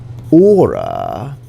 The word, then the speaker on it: hora: In hora, the H is silent. The H is always silent in Spanish.